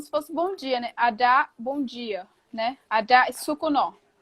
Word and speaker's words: Adac: A escrita dela é A-D-A-C. A-D-A-C. ADAC. A-D-A-C. Adá. Se você não fala a Mas pronúncia, eu nunca ia saber, eu nem ia o arriscar a C, pronúncia. o C não, não se, a gente não, por exemplo, tem gente que lê Adak, não é Adak, é Adá.